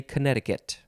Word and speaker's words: Connecticut: for connecticut the state which is spelled connecticut but we say connecticut next is you can